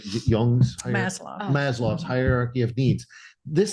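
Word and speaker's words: Maslow: l w I believe oh it's I think it's maslo I think I pronounced it wrong at first but it's this trying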